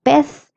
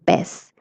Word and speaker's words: pez: Notice the difference between pez and pez. Pez has a slightly stronger sound, whereas pez is more soft, but both are correct.